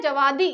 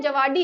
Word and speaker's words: जवादी: ठीक है, फिर आता है जवादी। ये जवादी है या जवाडी है, क्योंकि आप स्पेलिंग देखेंगे तो ये है DI, तो जवादी भी पढ़ सकते हैं, जवाडी भी पढ़ सकते हैं।